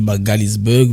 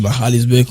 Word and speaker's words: Magaliesburg: On dit Magalisburg mais le nom sud-africain Bour c'est Mallesburg. Moi comme ça qu'on prononce.